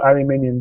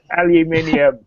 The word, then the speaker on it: aluminium: much it's um it's a full aluminum body um or aluminum to the rest of us Al spell it phonetically it's fine aluminium thank you and if you look